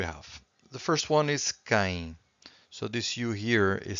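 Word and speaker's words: quem: question words we have the first one is K so this youu here is silent so k k it means who so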